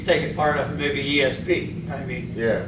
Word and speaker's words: Yi: that may mean more than just making EEG measurements. Yeah. So the Chinese have a saying, in Tai Chi they say the E leads the Qi. The E is spelled like Y-I.